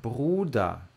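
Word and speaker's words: Bruder: de bruda de bruda esse R vocês vão ver lá no vídeo do do som do R que é diferente do outro tá esse aqui não arranha R ele vibra bruda bruda Beleza bruda pode falar também como se fosse o o som do R de caramba assim ó bruda bruda tipo Bruna sabe bruda pode falar assim também deesta deesta sesta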